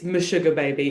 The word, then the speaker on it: Meshuga Baby: Is it Meshuga Baby? It's Meshuga Baby, exactly. That's exactly correct.